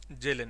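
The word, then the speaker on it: Kjellén: किया था जेलन ने जेलन ने करेक्ट ऑप्शन इसका जेलन है केस में साइलेंट होता है हाउस ऑफर ने उसमें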